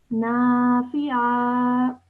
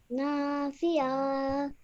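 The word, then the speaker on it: نافعا: But just remember to elongate the na and do not elongate the fi. Okay? Nafi'a. Nafi'a.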